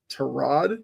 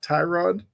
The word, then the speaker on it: Tyrod: Although, Baker did kind of tell us that you're supposed to pronounce it Terod, not Tyrod. So, I guess we'll go Terrod Taylor.